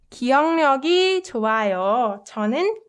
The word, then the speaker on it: 기억력: So if you notice, the way I pronounce this word is 기억력, right? 기, uk softens to 응, and 리을 sound gets replaced with 력, just because it's more convenient to pronounce it that way.